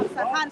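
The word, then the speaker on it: Isfahan: ciudad de Teherán y en la ciudad de Asfahan, si no me equivoco. Esa es la pronunciación correcta.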